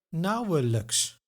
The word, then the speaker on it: nauwelijks: Nauwelijks. Now this is a video on the I sound, but the suffix like is pronounced as luk.